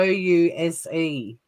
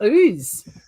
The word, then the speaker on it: Ouse: __ ] names too how do you pronounce this one o u s e pretty sure i did a live stream on pronouncing australian pounds i'm not even going to touch that use no it's ooze booze yeah tasmanian the